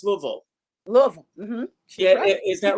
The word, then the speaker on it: Louisville: ask you because i know you're from uh louisville kentucky uh carol channing who is a friend of mine always said it wasn't louisville it's louisville louisville is that right am i pronouncing it